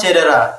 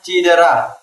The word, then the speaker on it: cedera: pakai abjad menurutku ya kata cedera soalnya banyak orang-orang itu bilangnya cidera jadi eh di awal katanya itu sering diganti